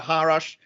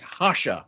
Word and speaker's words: Rocha: that is the dalida harash um she is an executive director of renew us um delete I think I mispronounced your last name it's hasha right yes okay sorry about that